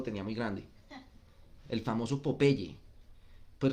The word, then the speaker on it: Popeye: el famoso popeye pues resulta que popeye es una combinación de dos palabras la palabra pop como la del popcorn que es que explota salta ya que no se pronuncia a ella si no hay de la palabra o entonces es pop eye ojo que salta hay una para las